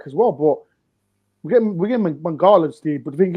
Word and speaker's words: Mangala: But the how do you pronounce his name? Mangala.